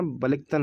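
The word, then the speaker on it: Balikatan: संयुक्त राष्ट्र अमेरिका ने अमेरिका की सेना और फिलीपींस की सेना ने सैन्य अभ्यास बालिकतन, इसको कैसे प्रोनाउंस करना आप देखना, बालिकतन है वैसे तो, बालिकतन 2022 शुरू किया।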